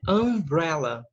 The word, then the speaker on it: umbrella: Aqui, ó, o U tem som de é umbrella, tá?